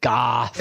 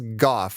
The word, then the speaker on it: golf: if they really did pronounce it "goff" without the L as you and I do. They do. It was but he says "goff," which sounds like they literally just left the L out.